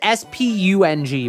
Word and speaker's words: spung: Okay, it is S-P-U-N-G, by the way. Don't ask why it's spelled spung, but it's pronounced sponge, okay?